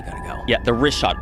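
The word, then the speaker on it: Richat: The rishot r i c h a t. It's worth mentioning that. Yeah. In the first couple uh I just want to say it's rishot. I used to call it rickot.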